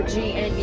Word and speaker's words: gnu: They can also be called the gnu, which is spelled with a G, so G-N-U, and they get that name from the sound that they make would sound just like that word gnu.